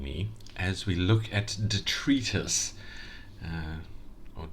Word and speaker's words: detritus: Thank you for joining me as we look at detritus uh or detritus as some people might pronounce it.